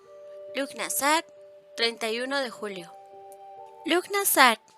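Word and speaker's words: Lughnasadh: nazar 31 de Julio look nazar pronunciado lunas a significa la conmemoración de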